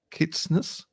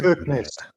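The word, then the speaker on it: Kirkenes: Kitnesses. I don't know how to pronounce that. Sorry. Kirk Nest.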